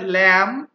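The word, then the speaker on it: lamb: ক্লাইম ক্লাইম doubt doubt এখানে কিন্তু বি উচ্চারিত হচ্ছে না তাহলে মধ্যা কথা হচ্ছে যে সাধারণত এম আর বি যদি একসাথে থাকে তাহলে সেই ক্ষেত্রে বি উচ্চারিত হয় না এম আর বি একসাথে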